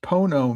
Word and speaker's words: pono: um that so they are certified 501c3 nonforprofit definition put origin Latin Latin pronounced pono meaning put because we put human